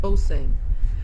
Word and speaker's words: Osing: It's pronounced Osing.